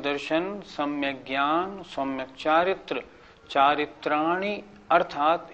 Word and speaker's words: चारित्राणि: कुछ लोग कैसे बोलते हैं, सम्यक दर्शन ज्ञान चारित्राणी मोक्ष मार्ग, ये गलत हो गया।